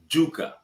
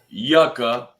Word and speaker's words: yuca: For everybody who's watching this further along the line, this show is pronounced yuca, not yucca.